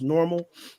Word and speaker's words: NORML: For those who don't know the Normal organization, NORML is the way that you pronounce normal, and they are a cannabis reform for states like ours Hmm.